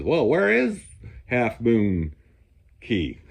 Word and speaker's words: Cay: Well, I think they actually want you to say key, but anyhow, I know that Florida it's the Keys. Uh, this is spelled C A Y, but I think they want you to pronounce it key instead of K.